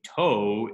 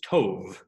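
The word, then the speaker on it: טוב: So instead of being toh, it was tov. And the vav was actually pronounced as a V.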